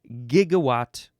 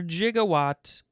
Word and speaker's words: gigawatt: Okay, let's move on to gigawatt or jigawatt.